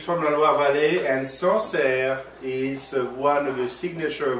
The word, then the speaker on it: Sancerre: So this is from a region that's called Sancerre. Is that right? This is correct. Sancerre.